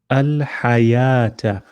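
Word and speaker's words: الحياة: one so for example here you would say al hayata it's like we're ignoring the wow it's like this yeah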